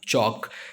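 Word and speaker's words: chalk: वॉक, उसके बाद Fock, और उसके बाद चॉक। सो आप सारे स्पेलिंग नोट कीजिए।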